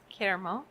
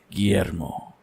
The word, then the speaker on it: Guillermo: Guillermo. No, you said it wrong. It's Guillermo.